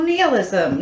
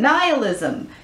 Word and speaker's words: nihilism: the Facebook me page cheerful nihilism nihilism both of the pronunciations are correct I'm gonna say that